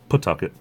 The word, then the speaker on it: Pawtucket: as most other place people would call it Pawtucket Rhode Island where the Pawtucket Red Sox of course we're from around here we say Pawtucket hey the PA W is pronounced put put target there was this hole